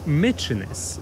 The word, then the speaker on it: Mykines: Nazwę wyspy powinno wymawiać się Mykines, co nie zmienia faktu, że na element animalny wciąż czekamy patrząc na farerską flagę.